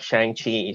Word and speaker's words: Shang-Chi: So my parents just picked that, characters, and then it pronounced like Shang-Chi, so they just spell it like that, and in Cantonese way.